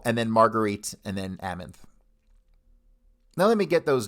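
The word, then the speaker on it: Amanthe: n t h e yes sir is that pronounced amonth yes sir amonth okay so this is amonth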